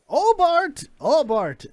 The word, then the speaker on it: Obart: Obart. Obart. Obart. Obart. Obart. Spell it right. Olbart. O-B-A-R-T. Obart. That's what I said, wasn't it? You said old. Obart. You threw an L in there.